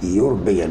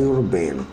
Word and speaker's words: European: European بعملها اول حرف كانه حرف ساكن، فالساعه تبقى A European University، او الآ مش آن، مش بالحرف الإي، لأن النطق بتاعها European يبقى A European.